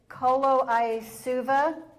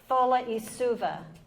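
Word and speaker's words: Colo-i-Suva: It's coloa, but you pronounce a c as a th and an i is an e. So really, it's foluva rainforest.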